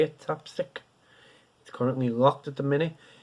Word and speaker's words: tapstick: That's how you say it, tapstick.